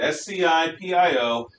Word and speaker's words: Scipio: time a roman commander appears his name is scipio yeah i looked it up that's how you pronounced it s-c-i-p-i-o is scipio scipio takes a roman army to